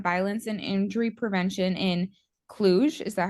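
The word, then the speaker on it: Cluj: summer school on violence and injury prevention in clug is that how you say it clug yes Romania could you describe what that was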